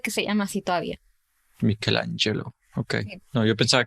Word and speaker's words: Michelangelo: Se dice Michelangelo, con la CH, pero se pronuncia Michelangelo. Junto.